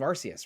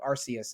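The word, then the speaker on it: Arceus: And then, you know, CE communicates to me a a soft C. So, Arus is how I've always said it or maybe maybe Arus is is more appropriate.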